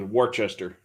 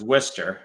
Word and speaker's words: Worcester: ferry yeah yeah or my personal favorite is worchester which is worcester yep i don't know how you get wooster out of that or worcester but it's warchester that's western you go down